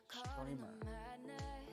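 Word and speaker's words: Strimer: Apparently Lian Li said it's pronounced streamer.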